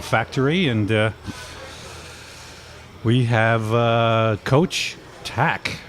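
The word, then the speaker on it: Tkach: them around the factory and we have coach tack right and that spelled T a TK ACH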